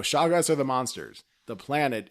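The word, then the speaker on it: Shoggoth: babe no oh wait i think i said it wrong shaggest no way no shaw guys are the monsters the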